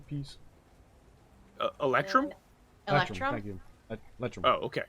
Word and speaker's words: electrum: Group Pronounce that right? discount. Haggle. Ephraim piece. Electrum? Electrum? Thank you. Electrum.